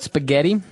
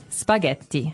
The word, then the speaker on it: spaghetti: differently and what about spaghetti spaghetti spaghetti oh you pronounce the Double T as well that's right okay so